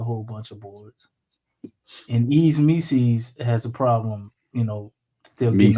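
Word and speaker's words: Yves Missi: It's one of them things where Mises rhyme with Reese's. Is that what's going on here? If that's what you like, that's what you into, bro. It's Yves Mises, bro, not Mises.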